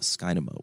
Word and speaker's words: Skynamo: to learn more about skynymo which is spelled s-k-y-n-like nancy a m like mary o think about dynamo right if you want to be a sales dynamo there we go that's